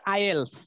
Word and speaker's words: IELTS: IELTS, এটার উচ্চারণটা হলো আইএলস।